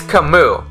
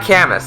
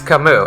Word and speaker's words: Camus: Like, it's Camus. It's not Camus, it's Camus. It's a French name, right? So there's so much. It's like, I think Camus is wrong.